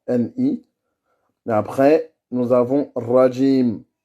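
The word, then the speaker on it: رجيم: Et là, le ra, ça doit être un ra qui est roulé, comme en espagnol. D'accord? Comme l'espagnol, et pas avec la gorge. Et il ne faut pas que ce soit un W.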